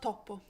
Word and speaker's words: topo: Oh, I love topo. Topo. Topo. Topo, Just like a one mouse. P. Yeah, I love. Yeah, one P.